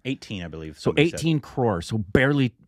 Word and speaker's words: crores: Crores? Yeah. 18 crores.